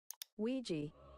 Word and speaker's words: Ouija: asked a data analyst expert to give us the proper pronunciation of this word. Ouija.